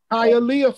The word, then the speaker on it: Hialeah: how I love Florida how's it pronounced Hialeah Florida with another Municipal Building